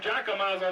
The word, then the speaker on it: Giacomazzo: Call him Giacomazzo, that's the correct pronunciation there.